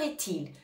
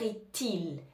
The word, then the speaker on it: est-il: les mémoriser quelle heure est-il attention on fait bien la liaison on entend bien le T quelle heure estil quelle heure est-il je